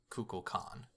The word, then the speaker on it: Kukulkan: It's I mean you know it's an ancient Mayan name that also exists in other cultures so the its pronunciation varied but best I could see is Kukul Khan Kukul Khan has